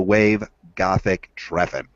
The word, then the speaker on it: Wave-Gotik-Treffen: Now it's spelled G-O-T-I-K dash T-R-E-F-F-E-N .D-E. So Wave-Gotik-Treffen.